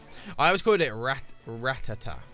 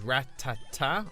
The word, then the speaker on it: Rattata: a rat attack or rattata but i know in the show they often call it a rattata depends on how many syllables rat tata or rattata like it's all about the emphasis oh no we don't